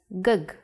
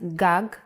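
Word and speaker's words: גג: If you were to see this word written, you might want to read it as gug. There is no vowel sound. In Hebrew, the vowels are often not written. You would know that this word is pronounced gag because it has been taught to you before.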